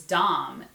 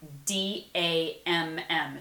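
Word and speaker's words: Damm: But growing up, my maiden name was Dom, D-A-M-M, 2 M's. And so every time like I see this, Damned, because forever people would call me Dam, because it's spelled D-A-M-M, but it's Dom.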